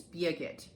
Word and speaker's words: Birgit: Then, and if you wanna know how to pronounce her name correctly, it's Birgit. So, she's German.